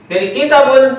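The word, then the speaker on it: كتاب: Artinya kata benda itu misalnya kitab ya, kitabun misalnya. Kitabun. Nah, ini asli. Kitabun itu keadaan kata benda, tulisannya bunyinya aslinya adalah kitabun. Tulisannya kitabun. Dibacanya, diucapkannya bisa kitab. Ya. Tetapi di dalam tulisan tetap harus kitabun.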